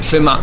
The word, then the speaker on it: Shema: Ça se prononce, d'accord? Pas shma, mais shema, comme je dis.